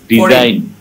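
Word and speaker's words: design: মতো যদি হয়ে যায়, শব্দের শেষে যদি আই জি এন থাকে তাহলে জিটা সবসময় সাইলেন্ট হয়ে যায়। কেউ একজন এই শব্দগুলো পড়ে শোনান তো আমাকে ভাইয়া। সাইন, brain, ফরিন, ডিজাইন, রিজাইন।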